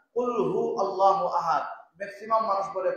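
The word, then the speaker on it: قُلْ هُوَ اللَّهُ أَحَدٌ: শুনতে মুখস্থ হয়ে গেছে, কিন্তু আমাদের শুদ্ধ নাই, উচ্চারণ শুদ্ধ না। কুল হু আল্লাহু আহাদ, ম্যাক্সিমাম মানুষ বলে কুল ফু আল্লাহু আহাদ।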